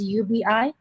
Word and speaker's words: Ubi: the movie name is ubi yeah it's spelled ubi and i i just i but i call it ub okay okay yeah and